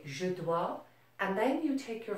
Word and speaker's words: dois: Je dois, tu dois, il, elle, on doit, nous devons, vous devez, il or elle doivent. Notice you're not pronouncing the S here or here.